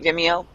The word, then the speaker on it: Vimeo: Am I pronouncing that right, Vimeo?